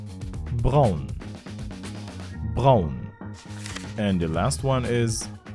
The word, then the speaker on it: Braun: ready let's go number one how to pronounce this brand name thus is BMV BMV number two Brown and the last one is yes it is